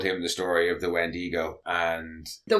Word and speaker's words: Wendigo: He says it's an a Native American scout told him the story of the Wendigo and the Wendigi.